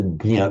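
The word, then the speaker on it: jñā: You put your tongue as if you're going to say j, just start it, but then go straight onto the nya.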